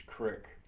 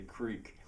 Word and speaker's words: creek: little revolution, I think, to pronounce it as crick. That just feels right to me. I feel weird when I say creek. But I'm going to try to adjust that. So when I'm among people who speak the prestige dialect and maybe even put down the other dialects, I'll have it their way and pronounce it as creek.